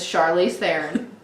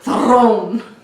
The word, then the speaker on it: Charlize Theron: Her name is Charlize Theron. Not Theron. Like Toblerone. Apparently I say her name wrong.